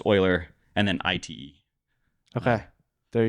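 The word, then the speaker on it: Euler: yeah I think so I think it's Oiler right which is so Oiler uh e l r is um he's a famous mathem old oh yeah old mathematician I always thought to pronounce uler Yeah well yeah it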